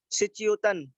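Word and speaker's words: श्च्योतन्: सचयोतन, सिचयोतन। इसमें अलग अलग तरीके से लोग अलग अलग प्रकार से भी उच्चारण करते हैं, पर हम इस तरीके से उच्चारण करते हैं सचयोतन, सचयो, सिच सच श्वे सच यो तन।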